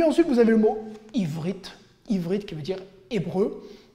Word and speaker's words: Ivrit: Donc en hébreu moderne, on ne prononce pas trop les gutturales, on va dire Aïn, tout simplement, Ivrit.